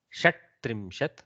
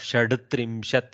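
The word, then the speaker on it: षट्त्रिंशत्: So instead of shad-trimshat, which is tough, going from soft to hard in a without a swara in between is very difficult for the mouth.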